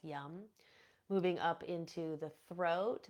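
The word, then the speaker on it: yam: green color and then the seed sound here is yum this one's my favorite yum y a m pronounced yum moving up into the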